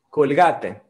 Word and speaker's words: Colgate: con gates bill gates en portugués pronunciamos kong h en español es dicha colgate colgate colgate para tus